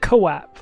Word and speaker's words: Quap: It's Quap, like the sound.